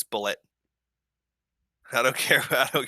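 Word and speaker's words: bulette: as a proof oh it's pronounced boule ah no it's not it's bullet i don't care i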